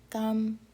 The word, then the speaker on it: 감사합니다: It's pronounced more like a K. 감사합니다. The real pronunciation is more like this.